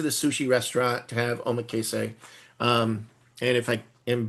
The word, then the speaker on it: Omakase: they go into the sushi restaurant to have Omakase. Um and if I am butchering how that's pronounced I'm going to just a second. I'm going to I'm going to solve my problem. Hold on. Omakase.